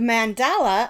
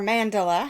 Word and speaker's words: Mandala: one out here because the mandala or Mandela however you want to pronounce that from Lion Brand